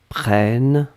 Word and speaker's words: prennes: prenne eux que tu prennes e s donc on est d'accord qu'on n'entend pas le s mais si vous voulez écrire correctement vous devez écrire avec le s à la fin pnn e s après